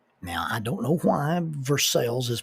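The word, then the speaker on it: Versailles: Confederates of Kentucky didn't like and so they pronounced it ver sales in order just to offend the French uh really don't know why they pronounce Versa versel but they do now if you don't know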